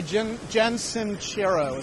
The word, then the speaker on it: Jen Sincero: I'm going to be listening to, I just finished a really good book by Jen Sincero, is how you say her name.